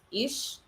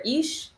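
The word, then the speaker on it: אִישׁ: And it is, I believe it's pronounced ish or ish.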